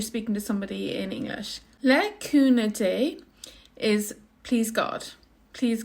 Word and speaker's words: le cúnamh: So in Connacht, which is the dialect I speak, it's le cúna, and you don't hear the ending, it's silent. Le cúna dé.